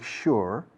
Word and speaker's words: sure: To make sure, fijaos la fuerza de la S de sure, que es sonido de SH en inglés. Curiosa forma de pronunciar esta palabra. To make sure, la K de make suena, pero luego enseguida, boom, cae como un fardo la SH.